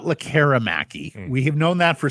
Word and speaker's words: Lekkerimäki: Ignore the E. Yeah, it is not Lekkerimaki.